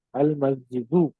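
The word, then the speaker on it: الْمَسْجِدُ: மஸ்ஜித் அல் மஸ்ஜிது. மஸ்ஜிது. புரியல? நம்ம என்ன வித்தியாசப்படுத்தி காட்டுறோம்? அல்லு சேர்த்தா தன்வீன் போயிடும் அப்படின்றத நம்ம தெளிவுபடுத்துறோம்.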